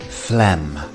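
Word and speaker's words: phlegm: as an f and we have a silent G so this word is quite deceptive Flem next up we have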